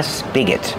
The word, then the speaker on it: spigot: You can call it a tap or a spigot. So tap, with a short a sound like apple and black cat, tap, and spigot. Spigot, use the short is sound like this is.